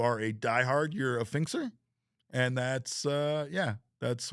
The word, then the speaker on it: PHNX: Arsenal asks, "How do you pronounce phnx eggs?" That's symbol. We've we've established this. It's fin.